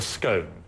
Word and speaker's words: scone: And what is this pronounced? It's called a scone, or if you're really pretentious, you can call it a scone.